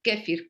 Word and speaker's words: kéfir: puedes pedir este el kéfir que realmente es la correcta pronunciación lo puedes pedir también